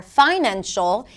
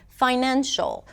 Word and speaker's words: financial: less clear and then they may say engineer instead of engineer or mistake instead of mistake or financial instead of financial.